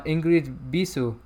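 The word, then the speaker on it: Ingrid Bisu: with his wife uh ingrid bisou that's how he pronounced it because she's a romanian actress and she's also does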